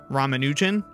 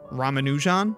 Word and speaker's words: Ramanujan: stink out of it is it ramanin ramanin ramanujan ramanin ramanujan I believe the stress is supposed to be